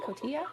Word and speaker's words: Cotija: garlic spread with plant-based cotilla Cotija I think is the right way to say that cheese so a couple different